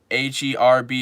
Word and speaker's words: herb: you're talking about dude I said h e RB is pronounced herb not herb but if you're a